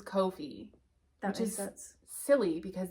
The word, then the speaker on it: Ko-fi: I do think it's pronounced Kofi. I think you're right. I didn't. You're right. The people who own it put out a whole thing because it rhymes with no fee. So it's Kofi.